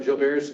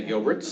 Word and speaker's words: Gilbert: way I looked up Jill Bears to know how to pronounce it because I've heard people say Gilbert's and I've heard people say other things and it's from a French dude so it's Gilbert so